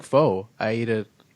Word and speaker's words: pho: Is a nice like a bowl of what we call in Canada pho, but what the rest of the people call, I believe, pho. Is that pho? Wait, you don't call it pho? No, I pronounce it correctly. It's pho. It's pho? Pho. Do you call it pho here? No. You call it pho? Yes, because that's what everyone else calls it. So that you don't seem weird.